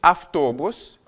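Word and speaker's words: автобус: Le V est sonore, le feu est sourd. Et donc ici, on va avoir un assourdissement de la consonne. Le V se prononcer feu.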